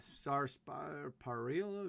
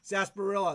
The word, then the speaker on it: sarsaparilla: i used to like the good old uh sarparilla grouper oh i don't even know that root